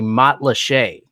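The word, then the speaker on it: Matlacha: she corrected her and the pronunciation is french but the word is native american it's a weird thing so it's actually matt lachey not spelled anything like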